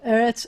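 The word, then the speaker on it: ארץ: vowel the vowel so whenever you have a segolate um the first syllable is always the accented syllable of the two as so eretz and they're going to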